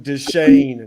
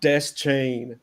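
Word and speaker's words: Deschain: I forgot to mention forever his name will be Stephen desan not Des chain like I I refuse to say Des chain it's he's he himself pronounces it normally the Shan I don't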